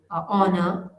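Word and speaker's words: honour: letter H है वो कुछ वर्ड्स ऐसे है जिनमें लेटर एच जो है ये साइलेंट होता है इनको प्रोनाउंस नहीं किया जाता है जसे नबल ऑनर आर ऑनेस्ट इस तरह से इन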